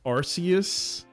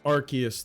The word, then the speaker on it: Arceus: It's supposed to be the the arc phone, but I also used to say um Arus, but apparently it's Archus the whole time.